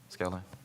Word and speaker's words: Skilling: Mason Lopez, Ian Skiing, I might be saying this last name wrong, I apologize for that. Skilling, is it Skilling? Skilling? Okay, thank you.